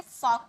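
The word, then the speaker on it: folk: है से वॉक पढ वैसे ही इसे फॉक पढ़ेंगे फॉल्क नहीं पढ़ेंगे ओके नेक्स्ट है अनिच्छा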